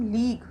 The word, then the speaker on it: league: LEAGUE, इसको पढ़ते हैं हम लीग।